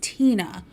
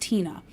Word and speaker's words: Tena: I would pronounce it Tena t-e-n-a but it is Tina it's pronounced Tina so I I didn't